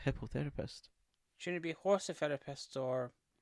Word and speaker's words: hippotherapist: No, I'm not mispronouncing this. Hippotherapist. Not hypnotherapist. Hippotherapist.